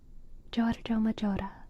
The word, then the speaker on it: Giorgio Maggiore: Oh, I mean, my favorite thing that I learned tonight was how to pronounce Giorgio Maggiore. Giorgio Maggiore. Giorgio Maggiore.